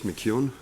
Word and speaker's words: McKeown: to correct you on pronouncing of my last name it's mckeon and not sorry i've got a